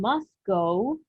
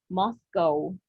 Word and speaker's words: Moscow: Railway line goes from musco listen Moscow don't say moscu we're going to say Moscow from Moscow to VL